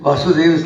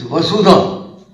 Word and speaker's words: वसुधा: Many people mispronounce it and think it's to do with Vasudeva. It's nothing to do with Krishna. It's Vasudha, which means the earth, Ev alone, Kutumbakam.